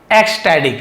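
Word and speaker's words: ecstatic: थी वाज़ यानी थी एक्सटैडिक है ना द क्राउड वाज़ एक्स एक्सस्टैडिक एक्सैटिक का मतलब क्या होता है? एक्सटैडिक का मतलब होता है ट टी लिखा है ड जैस्टडिक ड जैसा उच्चारण होता है जिसे हम बोलते हैं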